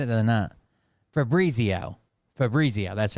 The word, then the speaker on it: Fabrizio: it I just said it the night Fabo Fabrizio that's right assured president Trump that President Biden